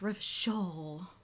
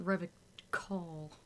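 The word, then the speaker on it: Revachol: I guess I'll leave it's pronounced red shawl not Revit call so tasty what was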